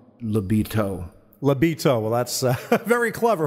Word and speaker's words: LiBeatos: And but I will say it's spelled L-I-B-E-A-T-O-S. So it's not Libido, although we are a high-octane band. It's more like Libito.